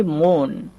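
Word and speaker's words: moon: এখানে আমি লিখেছি মুন। মুন খেয়াল করেন। এখানে কিন্তু ও প্লাস ও চলে এসেছে। মানে দুইটা ও পরপর চলে এসেছে। এইজন্য ও লেটারকে ও উচ্চারণ করব।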